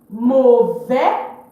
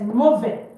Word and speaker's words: mauvais: Mauvais, bad for masculine, don't pronounce the S. Mauvais.